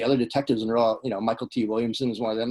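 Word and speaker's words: Mykelti: Michael T. Yeah, it's not McKelty, it's Michael T. Oh, it looks like it should be McKelty.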